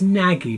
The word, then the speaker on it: Nagy: It says Nagy, but it's Nag, I think.